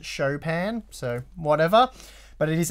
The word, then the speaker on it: Chopin: is the Chopin and a lot of people call it Chopin but it's actually pronounced a Chopin so whatever but it